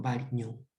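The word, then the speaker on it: Varignon: Variñón, ¿no? La ñ en Italia se pronuncia como una combinación de G y N, ¿no? Variñón.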